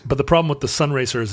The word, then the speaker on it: Sunraycer: But the problem with the Sun Racer is it's spelled SUNRAYCER. So it's Ray. Sun rays, sir. I get it now. It's pretty bad. It starts with Sun Ra. That's nice. Sun Ra, the Sun Ra yeaser.